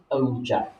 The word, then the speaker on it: ogive: Okay, pronounced ogive.